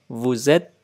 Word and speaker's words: vous êtes: Đối với cái ngôi vous thì các bạn nối âm nha, luôn nối âm. Je suis, tu es, il est, nous sommes, vous êtes. Nối âm, vous êtes, ils sont.